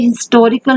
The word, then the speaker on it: historical: It is a historical novel. Here H is not silent.